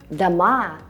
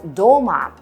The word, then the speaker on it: дома: Also notice the stress in some plural forms. For instance, дом means a house. Дома – houses. While дома with a stress on the first syllable is either an adverb that means at home, я дома, I'm at home, or a genitive singular form of дом, я возле дома, I'm next to my house.